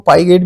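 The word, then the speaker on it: Piaget: आपको कहा था ना पियाजे को पाई गट भी कहते हैं इंग्लिश में इसकी स्पेलिंग ी यही बनती है पी आई जीई टी तो पाइ गट ने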